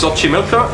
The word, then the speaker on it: Xochimilco: are found primarily is that like to be pronouncing it wrong it's Xochimilco in Mexico we really for about five years